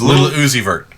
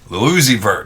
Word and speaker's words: Lil Uzi Vert: Little Uzi Vert. Lil Uzi Vert.